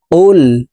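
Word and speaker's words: قُلْ: যাবে কফ লাম পেশ কুল কফকে জিহ্বার গোড়া তার বরাবর উপরের তালুর সঙ্গে লাগাইয়া উচ্চারণ করতে হবে তারপরে দেখুন এ কফ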